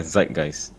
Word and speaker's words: Zeitgeist: those who are not really good at language pronounce the name of the show for us z g the show is called yeah Zeitgeist I thought so too Zeitgeist you know I